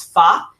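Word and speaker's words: Fage: that yogurt called fa that's how I'm pronouncing it the Greek way it's F spelled f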